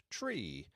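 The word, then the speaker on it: three: So 9 is niner and not nine, and 3 is said like tree to avoid it from sounding like Sri, a respectful title to prefix the name of a man in Hindi.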